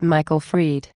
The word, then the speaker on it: Michael Fried: And, by the way, his name is pronounced Michael Fried.